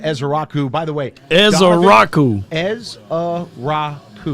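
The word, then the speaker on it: Ezeiruaku: Ezrau. Easy. That is how you say you. Ezrau is easy to say. Donovan Ezra. Ezrau. That is how you say his last name.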